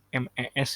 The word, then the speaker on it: mes: MES itu tulisannya MES bacanya me.